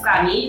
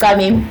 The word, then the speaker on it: Cami: And I'm so terribly sorry, and I had no idea that I'm supposed to pronounce it as Cami, right? Yes, it is Cami, but I live in Cape Town, so...